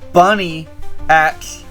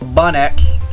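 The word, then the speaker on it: Bunnyx: And then so, with the help of Bunny X, or Bun X, I think is how you say it, she recruits Marionette,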